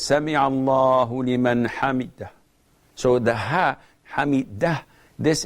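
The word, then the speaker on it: سمع الله لمن حمده: Brother Muhammad from the Emirates says that he prays behind an imam, and the imam, after saying Sami Allahu liman hamidah, he doesn't say it correctly.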